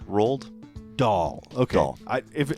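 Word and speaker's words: Roald Dahl: kind of from those how do you say his name doll I think is what it is rolled rolled doll okay I if it's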